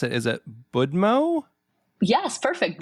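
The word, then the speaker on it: Будьмо: uh the book is called how do you pronounce it is it budmo yes perfect budmo yes nice which roughly translates to Cheers is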